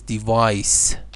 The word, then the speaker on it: device: the noun form is device and this is device so this is z in pronunciation but when it is used as a noun it is SE the burglers devised a